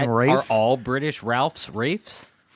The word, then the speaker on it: Ralph: said Ray I said Ralph. It's actually Rafe in the It's Wait, what do you mean it's Rafe? It's spelled Ralph. It's pronounced Rafe.